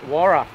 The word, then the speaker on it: Waroora: Pronounced Waroora. Oh, Waroora. There you go. It's not Waroora Station, it's Waroora Station. It's like Ningaloo's, not Ngarraloo. Ningaloo.